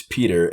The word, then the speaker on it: Peater: It's Peter, and it's spelled Peater.